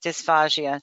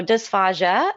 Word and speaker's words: dysphagia: Her goal, which is a fabulous goal, is to improve the quality of life for people living with dysphagia so that they can enjoy their food and eat with dignity.